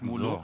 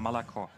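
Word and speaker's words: молоко: korrigieren moskowska ja ja im russischen wird kein o ausgesprochen außer ist betont und darum hat man pro Wort immer nur ein maximal ein O also das heißt auch nicht Molo sondern malako Fall ich das mal ein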